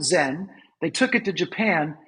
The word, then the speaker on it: Zen: And he goes, Chan is how you say Zen in Chinese. The Japanese came, studied Chan, they pronounce it Zen, they took it to Japan, now it's all over the world.